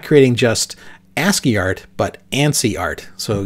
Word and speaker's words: ASCII: code for information interchange ASCII pronounced asky uh asky characters to